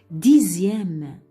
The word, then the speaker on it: dixième: Dixième, dixième.